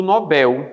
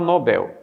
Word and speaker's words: Nobel: Então vejam, se você pronuncia papel, pastel, hotel e pincel, por que não pronunciaria Nobel? Então, já que aqui não tem acento, ou seja, o L atrai sílaba tônica para o final. Ó. Então, se o L atrai sílaba tônica, é claro que aqui o certo é Nobel em vez de Nobel, porque em língua portuguesa,